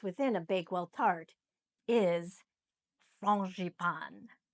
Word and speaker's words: frangipane: So, the name of the almond custard that goes within a Bakewell tart is frangipane. So, that's the French pronunciation, frangipane.